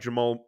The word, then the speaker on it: Jamal: and and and to bring somebody in like Jamal or Jerome Jamal God bless it you said